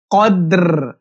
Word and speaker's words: কদর: কদর ফি লাইলাতিল কদর কদর এরকম একটা সাউন্ড আসবে এখানে মানে বলবেন রটা হালকা উচ্চারণ হবে এরকম লাইলাতিল কদর লাইলাতিল লাইলাতিল লাইলাতিল আমরা